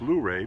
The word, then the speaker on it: Luray: at a pleasant park on the outskirts of luray virginia i know it's pronounced luray because i've heard locals pronounce it that way